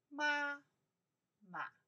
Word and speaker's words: 妈妈: When I say ma, ma, the first one, the pronounce looks more stronger, right? Ma. The second one, ma, more soft. Ma, ma. Chinese have that.